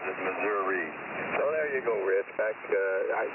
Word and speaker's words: Missouri: Okay, yeah, I think back in my drinking days I pronounced it Missouri or some slurred version of that, but today Missouri.